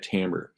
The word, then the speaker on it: timbre: what we call Tambor I know it's spelled timbre but it's you say it Tambor and it's musical quality